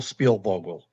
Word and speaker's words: Spielvogel: It's uh Spielbogle.